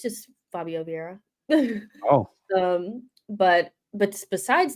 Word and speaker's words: Vieira: It's just Fabio Vieiraa.